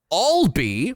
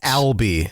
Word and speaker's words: Albee: One Edward, hold on, let me just check my notes here on how to properly pronounce this name. Uh, Alby, that's that's correct. It's Albi.